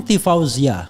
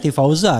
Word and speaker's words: Tifauzia: Saya tadi bilang Tifauzia. Tifauzia. Iya, Tifauzia. Ya, bukan Tifauza kan?